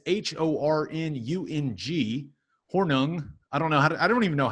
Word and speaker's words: Hornung: The Horning Award, that is Hornung.